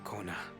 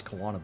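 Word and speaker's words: Koana: But simply Kona will do. I could have sworn they pronounced it as Kawana before, but guess I'm mistaken.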